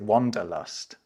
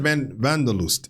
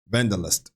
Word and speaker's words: Wanderlust: in English, and that's people in English might pronounce it wanderlust, but wanderlust, right? The need to sort of get out there is. It's not a common English word. No, I said vandalust. Is it vandalust?